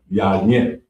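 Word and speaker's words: יין: And it's pronounced yayin. Yayin. Yayin. Yayin. We definitely need to know that. Yeah. You said why? Car. Yayin.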